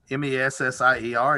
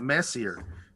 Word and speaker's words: Messier: Arkansas or speak Alabamese, his name was probably Charles Messier, M-E-S-S-I-E-R. And, you pronounce it Messier until you realize it's French and learn to French, Anglo, what would it be? Anyway, Francophile it, and it becomes Messier.